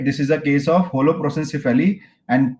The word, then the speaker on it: holoprosencephaly: This is a case of holoprosencephaly, and correct answer is trisomy 13.